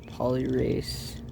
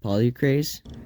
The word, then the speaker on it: polycrase: Looks like that says polyrace. Hi, editor's note here. I completely mispronounced that mineral. It's actually pronounced polycrase.